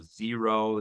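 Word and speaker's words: Xero: like mango and uh zero that's spelled with x x e r o there's QuickBooks um which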